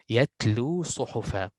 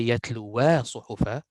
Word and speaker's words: يتلوا صحفا: Like here, يتلو صحفا. يتلو صحفا. So what I did is I went from wow to sod. I did not say that. I did not say يتلوا صحفا. Why?